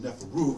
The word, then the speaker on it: Neferu: These 3 Neferu signs, or these 3 Nefer signs, which would be pronounced Neferu because that's the plural form, means to be perfect.